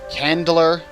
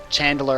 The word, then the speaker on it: chandler: there's also a carpenter a candler chandler actually the proper pronunciation they make candles and